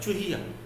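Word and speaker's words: चुहिया: रहा है चूहा, लेकिन जब हम चूहिया बोलते हैं तो च पे कम देर के लिए छोटे ऊ का उच्चारण होता है चूहिया।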